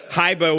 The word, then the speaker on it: Hybr: And it's spelled like Silicon Valley style. That's Hybr. So don't go googling for Hiber with an E, you know. Don't go putting the E when there's no E. It's Hiber.